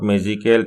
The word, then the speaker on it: magical: Notice that the word magical is pronounced with more force on the first level.